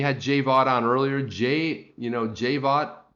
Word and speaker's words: Jay Vaught: Jay Vaught, pronounced Jay Vaught, and he was on Periscope.